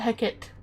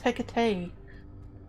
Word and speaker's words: Hecate: It's not Hecit, it's Hecate.